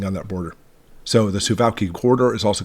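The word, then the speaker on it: Suwałki: suaki corridor I know it looks like it pronounced suuki but it's actually pronounced suaki and more specifically we're talking about the Polish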